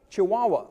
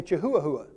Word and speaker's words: Chihuahua: There's a dog called a Great Dane, and there's a dog called a Chihuahua, or as I like to say, Chihuahua. So I know how to spell it.